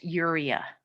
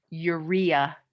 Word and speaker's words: urea: waste product is called urea or urea is the other way you pronounce that word this is a waste